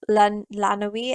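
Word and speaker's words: Laanui: that was coming from Arnold lanowie I think that's how you pronounced so which is l a a n u i um so this is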